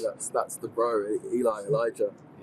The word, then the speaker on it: Elijah: So his his name is is Elijah. Yeah. Spelled Elisha. Elijah.